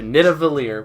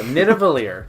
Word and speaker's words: Nidavellir: Thor, Rocket, Groot go to Nidavellir, right? You think that's how it's pronounced? Let's say that. Yeah, Nidavellir.